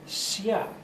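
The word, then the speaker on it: Xia: 2000 BC we have a dynasty called the Sia it's spelled x i a because the spelling system I'm using called opinion system uses the X to stand for a very gentle s if you have a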